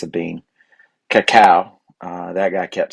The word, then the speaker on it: cacao: And that was the first time I had heard it pronounced something other than cocoa. And of course the bean, is it a nut? I think it's a bean. Cacao.